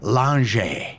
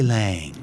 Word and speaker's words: Lange: Lange. I love that. I wish that was the pronunciation.